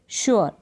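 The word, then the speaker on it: sure: तो यहाँ पर एस जो है इसको श पढ़ेंगे आप, श। फिर यहाँ पर शू बन गया, ये श्योर, ठीक है। अब इसको श्योर ऐसे प्रोनाउंस नहीं करेंगे, लिखा तो ऐसे गया बट इसको पढ़ेंगे आप श्योर, श्योर। क्लियर है। तो यहाँ पर श्योर, श्योर ऐसे पढ़ने लग जाए तो गलत हो जाएगा।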